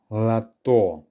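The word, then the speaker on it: лото: that's right La door lato again there are two syllables it's the second one that's stressed to the first one is unstressed so we perform a reduction on the first letter or which is how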